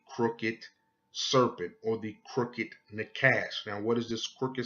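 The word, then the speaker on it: נחש: And you will pronounce this in Hebrew, Nakash.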